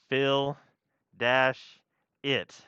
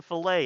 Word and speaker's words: fillet: and we're gonna name it philip f-i-l-l-e-t is pronounced fill dash it okay that's your document name fill it is